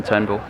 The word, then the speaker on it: Turnbull: bit more than Malcolm Turnbull. The US press recently mispronounced Malcolm Turnbull's name to Malcolm Trumbull.